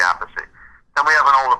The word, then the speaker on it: Appice: And after the drum solo, it's a live album, Tim Bogert, the bassist for the Fudge, said, "That's Carmine Appice on the drums," So there is actually recorded proof that he said Appice.